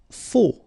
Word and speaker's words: faux: Faux, okay, final X not pronounced, then you get this AU together, O, faux.